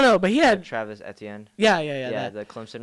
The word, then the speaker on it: Etienne: Edience or something. Edian or I don't know, but he had. Travis Etienne.